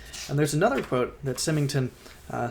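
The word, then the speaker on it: Symington: in his volume in this volume U William simmington that's how you pronounce his name on page 20 said this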